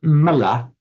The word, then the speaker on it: mala: Okay, the word mala with a short a in both.